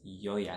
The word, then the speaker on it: Yoya: yo yeah fabulous stuff although I don't mind like a more Spanish pronunciation like figured what's up that's fine too but I like to say my name as Yaya fabulous ah next up